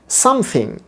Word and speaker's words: something: এবং শুরুতে একটা স্ট্রেস আছে, সামথিং।